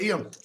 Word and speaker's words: Ion: Ion is actually pronounced Eon.